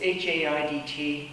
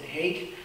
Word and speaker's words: Haidt: And it's H-A-I-D-T. You can find him, he's done a number of TED Talks. And it's interesting, he says some people call him Haidt and some people pronounce it hate.